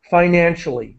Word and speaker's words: financially: And the pronunciation of financially, with the strong I sound.